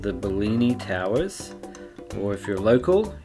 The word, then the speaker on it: Bellini: an Italian name, so the double L in Italian would be pronounced the same as it is in English, just a little bit longer, right? It would be Bellini, like that.